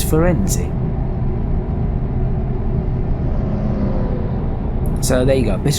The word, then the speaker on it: Firenze: So I thought it was Firenze. I thought that doesn't sound right. So I had to look it up. It's Firenze.